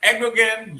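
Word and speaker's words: Erdoğan: yeah, Erdogan, the G is silent, whatever.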